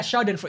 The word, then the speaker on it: Schadenfreude: people's suffering, especially when that person deserves, like Schadenfreude? I don't know how to speak German. Schadenfreude? Like yeah, I don't know how to pronounce it. Yeah, Schadenfreude. Yeah, Schadenfreude.